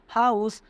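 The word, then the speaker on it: house: यहाँ पर H silent मत कर देना, हर जगह साइलेंट नहीं होता है, ठीक है बच्चों। हाउस, हाउस कैसे हा से स्टार्ट हो रहा है, हा से स्टार्ट हो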